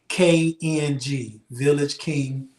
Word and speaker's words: Village KNG: And it's VillagKNG, Village King, VillagKNG on all.